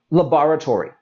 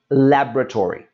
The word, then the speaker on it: laboratory: world is actually pronounced laboratory. But we can see that is still a very long sounding word. And for the most part, we're going to drop that middle syllable, and this will become laboratory.